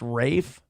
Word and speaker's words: Ralph: I've looked the other way on a lot of But Ralph pronounced Rafe.